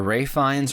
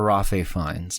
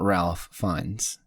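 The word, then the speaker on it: Ralph Fiennes: a couple of things of course um it's pronounced either Ray fines or Rafael fines not Ralph finds just to be clear about that um so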